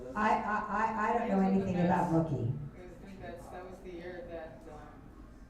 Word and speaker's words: Mookie: It rhymes with cookie, but it starts with an M. Mookie.